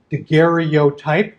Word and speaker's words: daguerreotype: 19th century and then daguerreotype daguerreotype which sort of squishes a syllable together a couple of syllables together so he makes this